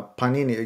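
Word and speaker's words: Pāṇini: that you mentioned uh Panini you said that we put the stress on the first Sy I didn't know that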